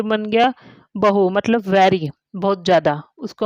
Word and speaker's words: बहू: तो ये बन गया बहु, मतलब वेरी, बहुत ज्यादा, उसको हम बहु भी बोलते हैं, बहु। और इस पर अगर मैंने बड़े ऊ की मात्रा लगाई तो ये बन गया बहू, डॉटर इन लॉ, बहू,